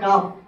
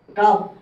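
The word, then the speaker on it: calf: তারপর আছে আপনি খাল এখানে উচ্চারণ হবে কাফ কাফ এল এর উচ্চারণ হবে না এল এর উচ্চারণ হবে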